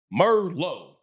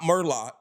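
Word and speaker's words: Merlot: Merlo, not Merlock. Merllo, the T is silent, baby.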